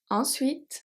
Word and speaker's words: ensuite: Ensuite, pronounce the T, not the E, so the E is silent.